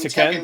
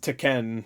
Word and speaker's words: Tekken: I watch saying it wrong I've been saying teken because that's what all I've heard it's it's pronounced taken sometimes I've heard that before there are games